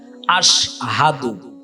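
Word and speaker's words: أشهد: আলিফ শিন জবর আশ হা জবর হা দাল পেশ দু আশহাদু।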